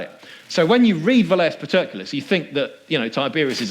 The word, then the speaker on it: Velleius Paterculus: for you say, well, isn't there that guy, Velleius Paterculus is how you say it, who wrote during the emperor's lifetime?